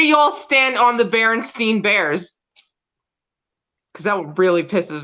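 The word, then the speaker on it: Berenstain: corrected in class that you're you it is pronounced Berenstein because then there was a kid around my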